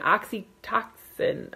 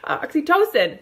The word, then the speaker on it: oxytocin: released in your brain the oxy toxin I don't know I'm totally butchering that I'm sorry oxytocin that's how you say it and it's that's